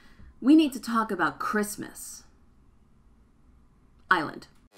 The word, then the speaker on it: Kiritimati: the native Carabosse language the TI makes an S sound so it's not pronounced a kiritimati but Christmas the name stuck oh